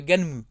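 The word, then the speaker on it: Gunnm: Prononcé à la japonaise, genre Ganmu, un peu.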